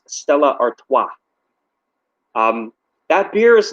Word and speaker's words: Stella Artois: doing a review for, it's pronounced as Stella Artois. It's French. Stella Artois. Because I know you were saying you're like I don't know how you pronounce this. It's French. It's Stella Artois.